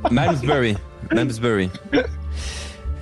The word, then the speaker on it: Malmesbury: Déjà c'est mal prononcé. Malmesbury.